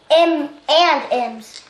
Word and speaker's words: M&M's: She said it wrong. Well, she said M's. She said M&M's. She just left. She left the and out. M and M's.